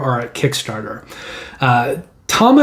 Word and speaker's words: Tama: Tama is actually spelled Tamashii for Western eye. If you look at it, it looks like it's spelled Tamashii, but it's actually pronounced Tama.